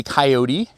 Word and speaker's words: Kioti: things first this is made by coyote k-i-o-t-i I know it's kind of funky I never knew how to pronounce it before um and this is